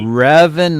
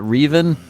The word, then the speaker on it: Revan: Revan, not Reven.